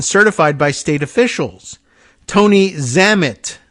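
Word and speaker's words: Zammit: by state officials Tony zamit z- MMI T which I am imagine rhymes with well lam it and Dam it as well a former spokesman for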